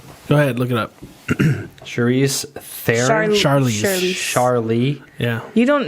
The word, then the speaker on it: Charlize: Charlize Theron. Charlie. Yeah. You don't know who Charlize Theron is? I mean, I might. Now am I saying it right? It's Charlize. Charlize Yeah, Theron.